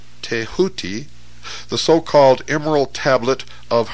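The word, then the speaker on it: Thoth: scribe of the Gods tho pronounced touti the so-called Emerald Tablet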